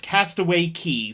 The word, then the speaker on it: Castaway Cay: what you're looking at here is the bahamian island of castaway key spelled cay but pronounced key this island is owned